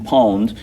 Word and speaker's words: pwned: So pwned is the way you pronounce it if you say it out.